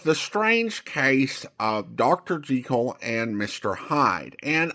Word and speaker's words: Jekyll: Jel and Mr. Hyde and I know I mispronounced it earlier as Jackekal.